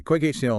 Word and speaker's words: QuykHTML: We're going to be exploring quick HTML. That's qu u y khtml and it's pronounced quick html which is you know a pretty clever little play on words.